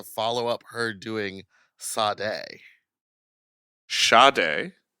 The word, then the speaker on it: Sade: Shade. Shade. Yep. Like shade. Yes. There's no H. It's spelled s a d e, but it's pronounced sha.